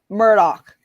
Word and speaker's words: Murdoch: the end of um the name Murdoch the um it's a h that sounds like a k more dick oh no